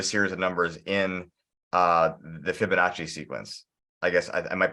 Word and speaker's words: Fibonacci: be fractals and the is it the Fibonacci sequence? Am I screwing the name of this up, guys? I think it's right. Okay. No, that's right. That's right. That's how you say it.